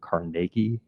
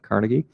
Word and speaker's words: Carnegie: You will notice out there on the internet that we pronounce it Carnegie here, not Carnegie.